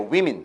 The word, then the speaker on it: women: 요거는 women이라고 발음합니다. 여자의 복수형은 women이에요. women.